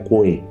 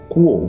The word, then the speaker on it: KUOE: Waktu itu gue pikir bacanya Kue. Lalu gue tanya tuh sama foundernya, kenapa namanya Kue? Terus dia bilang, lu bacanya aja salah, harusnya Kuo bukan Kue.